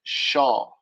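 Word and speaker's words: שָׁוְא: The Hebrew word for vain is shav, right? The Strong's Concordance entry for that would be Strong's H7723, right? The transliteration is shav. The pronunciation, or how you should say it, is shaw.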